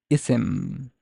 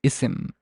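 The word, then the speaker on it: اسم: a sound so is unusual that it's pronounced isim if you actually hear it it's isim there is a glottal stop there is a Hamza here but this Hamza is like written is not written sorry and we only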